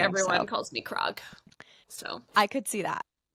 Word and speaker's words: Krog: I wanted to make sure your last name is pronounced Grog, right? It's actually Krog.